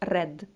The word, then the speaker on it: read: Отак само, але читається друга і третя колоночка, як red.